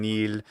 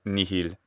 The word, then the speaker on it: nihil: poetry all the time neil instead of nihil both pronunciations are current for this time period it's fantastic the character